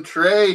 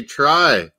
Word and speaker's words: Trey: I always called him Trey Hume, this Northern Irish kid. But they say try.